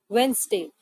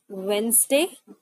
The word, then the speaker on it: Wednesday: The actual pronunciation of this word is Wednesday. Wednesday. All right. Here in this word, the D and E letter is kept silent and we pronounce it as Wednesday.